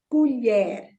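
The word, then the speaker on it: colher: words in LH okay let us take the word again it ends with an R so the stress is on the second syllable the last syllable the word is culier so you take the your sound from the throat okay and the word is u n h a so uler would be c-o-l-h-e-r another word is means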